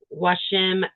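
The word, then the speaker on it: Joachim: It's called Beekeeping by Washim Peterson, I think, is how it's pronounced.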